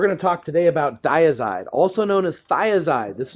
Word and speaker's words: Dyazide: We're going to talk today about Diazide, also known as Thiazide. This is what can confuse people because you'll hear people pronounce it different. You know, di versus thigh sounds similar, but there's different brand names, and there's also hydrothiazide.